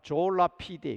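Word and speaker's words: Sola fide: 솔라 피데, 라틴어입니다. 발음은 졸라 피데, 그렇게 읽기도 합니다.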